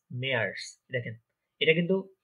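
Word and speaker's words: März: March আমরা normally ইংলিশে বলি, কিন্তু ওখানে ওটা হয়ে যায় মেয়ার্স। মেয়ার্স, দেখেন এটা কিন্তু এ umlaut, আ এ, আ এ।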